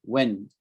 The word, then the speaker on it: wind: You get a strong wind when there's a hurricane or a storm, wind. But this word can also be wind. I wind a clock.